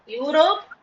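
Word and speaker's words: Europe: ரெண்டு சொல்லுங்க ஏசியா ஐரோப்பியா எது ஐரோப்பியா யூரோப்பியா இல்ல யூரோப் யூரோப்னு வரும் ஓகே தமிழ்ல யூரோப்பியான்னு சொல்லுவாங்களா ஓகே எனக்கு அது தெரியாது யூரோப்னு தான் சொல்லி கேள்விப்பட்டிருக்கேன் ஐரோப்பியா ஐரோப்பியா ஓகே ஃபைன்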